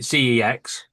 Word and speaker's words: CeX: Mark, yeah, I want to buy a monitor from the sex shop, or we better pronounce it CEX.